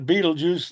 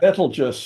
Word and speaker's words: Betelgeuse: Betelgeuse. It's not Beetlejuice. That's Okay, in the movie. it's pronounced the same. No, it's Yeah, but pronounced it's differently.